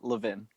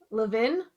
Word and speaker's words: Levin: clarification on the last name how do we pronounce that uh that's levin levin yes love it love it a little french